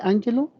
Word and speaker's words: Ángelo: ¿Está bien pronunciado su nombre, Ángelo? Sí, profesor.